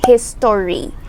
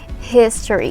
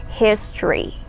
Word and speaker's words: history: called history history so it's we it's not pronounced as history or history no we say history so imagine you're removing the old sound history history say it okay so yes history is